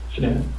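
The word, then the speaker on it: Shanann: And I don't want to pronounce her name wrong. Shenan. Shenan.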